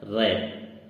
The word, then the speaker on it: wrap: ऐसे ही अगला वर्ड है हमारा रैप, जिसमें W हमारा साइलेंट वर्ड है, WRAP, रैप। रैप मीन्स होता है लपेटना।